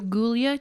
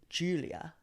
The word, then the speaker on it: Giulia: Tana is her name Julia Tana but spelled with a G so very fancy so gulia Tana gulia it's like g i u l i a Julia so gilia Tana gilia Tana it's an Italian name and they said it